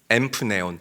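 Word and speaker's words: ἐμπνέων: 자, 등등하여 헬라어로 엠프네온이라고 읽고 발음해요. 엠프네온.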